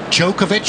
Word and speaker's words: Djokovic: It's going to be interesting to see what's going on with Jookovic and Tomic. Djokovic and Tomic. That's how I pronounce him.